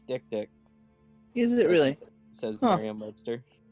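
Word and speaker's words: dik-dik: dick dick is it is it not pronounced deep deep no it's dick dick so dick dick let's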